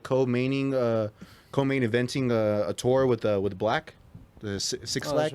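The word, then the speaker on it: 6lack: It's pronounced Black. Well, it was the number 6 and then it's Lack, so Right.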